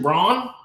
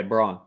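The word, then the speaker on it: Christian Braun: be a great was it how do you pronounce his name is it braun or brown christian brawn yeah braun yeah total non-factor tonight yeah i bet that's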